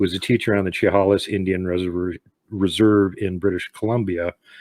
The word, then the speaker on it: Chehalis: Burns, who was a teacher on the Chehalis Indian Reserve in British Columbia. And I'm just going to correct you on the pronunciation there. What's that? Chehalis.